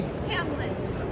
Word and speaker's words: Hamelin: How you pronounce the name of the company? Hamelin.